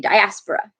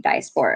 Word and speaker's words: diaspora: and I noticed that I pronounced diaspora with the long O. I just want to clarify. Most people, or maybe all people, I don't know, say diaspora, and I say diaspora because I say it wrong.